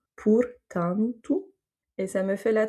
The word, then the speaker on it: portanto: Ou encore portanto. Donc ici, on n'a pas d'accent, on n'a pas de dernière lettre qui est un R, donc en fait l'accent tonique se fait sur l'avant-dernière voyelle du mot, et donc ça va être sur le A, ou en tout cas la syllabe antu, et du coup, les O qui sont avant et après vont se prononcer OU, portanto.